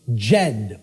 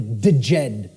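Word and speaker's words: Djed: was known as the the Jed or the theed pillars depending on how certain people pronounce it and these Jed pillars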